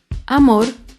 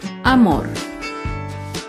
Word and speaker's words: amor: aguda sin tilde es la palabra amor amor se acentúa en la última sílaba pero no lleva tilde porque no terminan en vocal ni en las consonantes n o s amor otro ejemplo de una